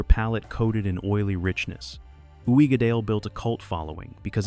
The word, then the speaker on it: Uigeadail: Pronounce it Uigeadail, and watch Scotch snobs nod approvingly.